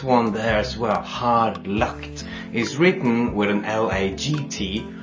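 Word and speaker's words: lagt: there is where hard locked is written with an l-a-g-t right what is pronounced more with the K instead of the G that's calm you'll see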